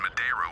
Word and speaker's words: Madeira: Their arrival in Madeira will be significantly Madeira. delayed. Okay, so that's how it's pronounced.